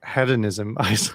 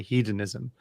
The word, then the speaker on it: hedonism: I think as regards to the question about hedonism, I was kicking myself because he pronounced it the American way, hedonism. The English pronunciation is hedonism.